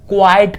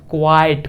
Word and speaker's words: quiet: यहां पे ओके तो चलिए चलते हैं हमारा क्वाइट को लेके क्विट खत्म हो गया क्या खत्म हो गया यह वर्ड क्विट क्या पढ़ेंगे इसको क्विट यह खत्म हो गया अब हम पढ़ने वाले हैं क्वाइट को क्या पढ़ने वाले हैं क्वाइट जी हां